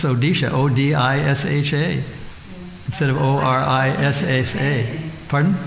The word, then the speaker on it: Odisha: It's kind of like pronounced the same way, but it's spelled differently. It's Odisha, O-D-I-S-H-A, instead of O-R-I-S-H-A.